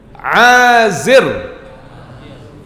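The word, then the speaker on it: عازر: Qahith bin Azir. Tulisannya Ain Alif Zaira. Boleh yang mau baca Azar, boleh yang mau baca Azir, boleh, karena bukan bahasa Arab.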